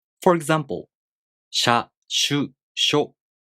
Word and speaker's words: しゃ: For example, しゃ, しゅ, しょ, these are pronounced with the [ɕ] sound, not the [s] sound, plus [a], [ɯ], [o].